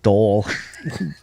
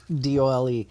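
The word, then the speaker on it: dhole: in the field pronounced dole d-o-l-e it's pronounced dole oh it is i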